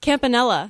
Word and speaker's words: Campanella: say your last name Campanella oh that's how I was going to pronounce it it's Italian yeah Campanella campella so you